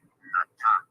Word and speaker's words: Nata: Right, so continuing the book Atlantis, the Antediluvian World, it says that the name of the hero of the Aztec story, Nata, pronounced with the broad sound of Ah, is not far from the name of Noah or Noé.